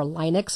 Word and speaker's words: Linux: Linux, or Linux as it sometimes is pronounced, is also an operating